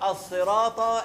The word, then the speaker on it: الصراط: بينها وما بين السين الصاد فرق ما بينها وما بين الايه الس السين السين تتنطق زي ست الستات في الصرا يا شباب الصراط الصاد ادا حقها اهد ن الصي اهدنا